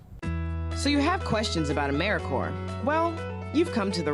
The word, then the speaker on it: AmeriCorps: AmeriCorps is alive and well, just spelled with a silent P. So, think of apple core or core of the earth. Now that we have that clear, what exactly is AmeriCorps anyway?